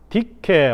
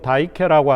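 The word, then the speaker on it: δίκη: 하는 신이라고 하는 것과 디케 혹은 다이케라고 하는 발음으로 다이케라고 하는 발음을 하는데 저스티스입니다.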